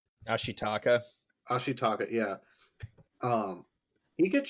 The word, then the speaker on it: Ashitaka: main character how do you say his name Ashi taka ashitaka yeah um he gets shot and literally